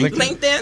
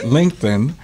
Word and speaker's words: LinkedIn: or Linkin how do you say it l Linkin LinkedIn is that you get to find your tribe